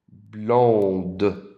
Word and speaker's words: blonde: And for the female, all you have to do is add an E at the end. Excusez-moi. There we go. Elle est blonde. Now you hear the D.